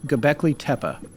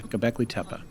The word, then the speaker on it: Göbekli Tepe: everything you're right yeah go beckley tepa tepe peh tepa tipa okay yeah gobekli tepa okay okay go alright